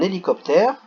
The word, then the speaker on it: hélicoptère: Donc là c'est un hélicoptère. Hélicoptère. Un H muet.